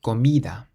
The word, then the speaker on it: comida: So the first word means food, and you pronounce it comida, comida. It ends in a vowel, So the sun rule says to emphasize the syllable before last, comida.